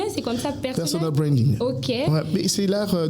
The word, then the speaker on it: personal branding: vous pouvez nous dire en rapport avec le personnel branding déjà ? Est-ce qu'on on prononce ça bien ? C'est comme ça personnel. Personal branding.